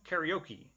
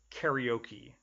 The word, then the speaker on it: karaoke: I hate God okay notice my pronunciation karaoke that's maybe a more many English speakers pronounce it karaoke why I don't know